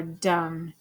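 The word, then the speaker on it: dumb: Or dum. Du. Um. Dum. The B is silent. You don't hear it.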